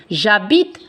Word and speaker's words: J'habite: Il y a un H muet. Qu'est-ce que ça veut dire H muet? On ne prononce pas. J'habite à Paris.